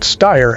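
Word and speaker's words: Steyr: Yep, that's pronounced Styer and a WY.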